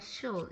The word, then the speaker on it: should: Ini kamu catatannya adalah di kata should. Should itu harus Should. kedengaran should. Should. Should rhyme with good not. The I in should is silent.